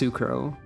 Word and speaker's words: S'crow: and not istola but sucro is definitely pronounced sukro because if you don't emphasize the the Sue it starts sounding strange sounds like escrow or something worse sucrose is not a